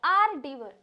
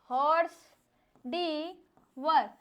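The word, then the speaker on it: hors d'oeuvre: अब बोलने के लिए हमें क्या आ रहा है? हॉर्स डी वर। लेकिन बिल्कुल गलत है। बिल्कुल गलत है। हम इसको बोलते क्या हैं? प्रोनंसिएशन क्या करते हैं? आर डीवर।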